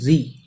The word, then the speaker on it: wry: Both री with the levered easy of loss, both means दोनों, WRY री, इसको री प्रोनाउंसिएशन करेंगे।